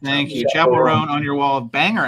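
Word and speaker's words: Chappell Roan: Is it Chapel Roan or Chappelle Roan? You said it right the first time. Thank you. Chapel Roan on your wall of banger albums behind you, Mr.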